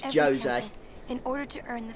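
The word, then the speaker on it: Djose: Okay, so it's Jose. I'll try to remember that pronunciation. I always say Jose, but it's Jose.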